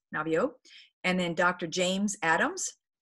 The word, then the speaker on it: Naviaux: Robert Navio, and he's at UCSD, and his last name is spelled Naviaux, Navio.